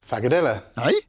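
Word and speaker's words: frikadelle: So in Danish they pronounce it fagadella.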